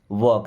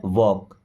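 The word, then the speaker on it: walk: Wok slowly वॉक। देखिए एल यहां पे साइलेंट है। क्या पढ़ते हैं? वॉक।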